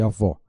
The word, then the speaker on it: avó: O agudo indica uma vogal com som aberto, café, saúde e avó.